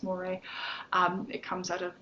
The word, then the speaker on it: mores: and it is pronounced mori i know it looks like morse but it's not it's moire um it comes out